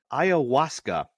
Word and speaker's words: ayahuasca: And not just like any psychedelics, ayahuasca, which is the stuff that Aaron Rodgers is using.